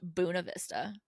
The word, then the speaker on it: Buena Vista: It's pronounced Buena Vista.